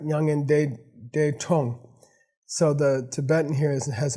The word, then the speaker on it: mya ngan las 'das grong: By the way, our prediction of the correct pronunciation is correct, Nyangen De Tong.